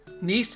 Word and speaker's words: Nice: educated american i do when i do print mispronounced things it is usually on an actual accident nice it is nice okay so we'll be going